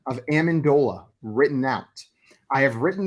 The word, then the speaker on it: Amendola: your next question how is the official phonetic pronunciation of Amendola written out I have written them all out